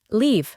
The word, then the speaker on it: leave: De nuevo, la E del final no se pronuncia, y el conjunto de letras EA se pronuncia con el sonido largo de I, leave.